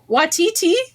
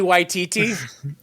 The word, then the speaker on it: Waititi: If Kiki Watiti. I'm saying his name wrong. Kiki Waititi.